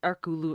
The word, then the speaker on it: Hercule: looked up um online his name is actually pronounced without the h it's arculo or something like that